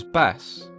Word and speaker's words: Bast: the cat goddess but she was originally known as bass and it wasn't until years later that the T at the end of her name was even pronounced the earliest depictions of